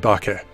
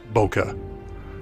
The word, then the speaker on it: bokeh: how to pronounce it it's pronounced ba as in bottle and ke as in kettle bucket is often a